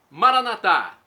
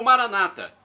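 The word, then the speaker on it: Maranatha: nosso Divino Pai Eterno maranat é do aramaico dialeto de Jesus pronúncia católica com a tônica na última sílaba ou Maranata com a tônica na penúltima sílaba pronúncia dos nossos irmãos separados os protestantes ou evangélicos não importa a pronúncia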